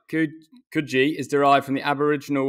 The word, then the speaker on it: Coogee: I got out of there and came back to the Cooge. Just on the Cooge, right? I'm intrigued what you all think. So Coogee, I'm being told, is always pronounced Coogee. Yeah, it's Coogee.